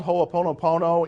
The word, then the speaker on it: Ho'oponopono: It's called Ho'oponopono in the Hawaiian tradition, and I wasn't even going to tell you that because now you have to write it down. And how do you spell it? Ho'oponopono.